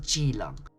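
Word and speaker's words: Keelung: However, strangely enough, the most significant celebrations of all takes place in a city called Jilang. And yes, I realize that starts with a K but is pronounced with a J.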